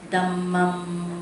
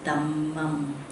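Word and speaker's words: dhammaṃ: Dhammam. When you put the H sound like this, DH, Buddha. Ha. Okay, now when we say this DH sound, it's a sound that should come from the chest, you know, the ha, ha.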